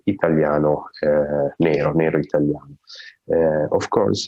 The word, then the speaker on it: italiano: other is black italiano that is pronounced in italian italiano italian uh of course